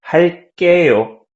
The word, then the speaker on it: 할게요: And plus, to pronounce it like Korean, like native Koreans, you can pronounce 게 stronger, like 게. So, for example, 할게요, you can say 할게요, 할게요.